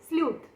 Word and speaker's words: SLEUTH: तो आपको लिखना क्या है, आप स्पेलिंग नोट करिए, ठीक है। सारे लेटर्स कैपिटल में रहेंगे, ठीक, SLEUTH, ठीक है, स्लूथ।